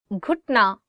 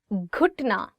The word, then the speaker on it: घुटना: घुटना, knee. घुटना, knee. One more time. घुटना. So it is gaf and you're adding it with he and it becomes g.